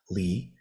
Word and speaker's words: 離: side is another character that's also pronounced Li.